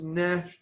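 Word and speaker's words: נשך: So it's neshech. Nesher. Neshech. Nesha. Accent is on the first one.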